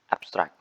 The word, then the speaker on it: abstract: for the at the example abstract as a noun or adjective the stress is at the first tillopy app but uh as a verb i mean sorry as a verb the stress placed at the second syllable as a noun distressed at the first syllabi as a verb the stress is at second syllabi uh thanks uh okay